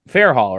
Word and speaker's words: Fairhall: And George Fairhall, right? I should ask for pronunciation first.